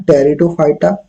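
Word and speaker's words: Pteridophyta: कन से है य प लगा साइलेंट रहता है इससे पढ़ते हैं टेरिडोफाइटा जिनो स्पर और एनजी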